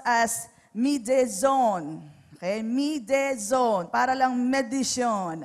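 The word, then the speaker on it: μείζων: i z o n So kung babasahin natin Mayon but Actually it is pronounced as mzone Okay mzone para lang medison Ayan so yyung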